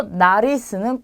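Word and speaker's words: nariz: 자, 그 다음에 누베는 구름입니다. 그리고 나리스는 코예요. 코. 우리 신체 부위 중에 코 있죠. 자, 그래서 전부 다 그냥 니은으로 발음이 되는 거죠. 그래서 노체, 누베, 나리스 이렇게 발음하시면 돼요.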